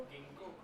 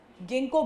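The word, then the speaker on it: Ginkgo: Third वाले का pronunciation क्या होगा एग्जांपल में जिम्नोस्पर्म? सोचो क्या होगा, तुम एक बार बोल के देखो। गिंको। हाँ, गिंको बायलोबा, मतलब पूरा नाम होता है।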